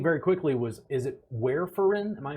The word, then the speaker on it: warfarin: up i think very quickly was is it where foreign am i pronouncing that correctly warfarin yeah can you explain what that is very